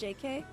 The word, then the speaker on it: JK: was I found out it's not pronounced Jake it's actually pronounced JK um JK actually uh